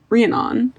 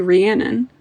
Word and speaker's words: Rhiannon: And I just made up my own pronunciation of Rianon. It's supposed to be Rhiannon.